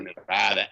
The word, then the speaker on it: Nevada: Nevada now, they're claiming, right? Mm-hmm. Or Nevada, as you're supposed to pronounce it if you live out there.